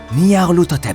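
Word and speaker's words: Nyarlathotep: Cette phrase se prononce Niarut, ou plutôt Lut, Hotep. Niar-Lut Hotep, c'est cela.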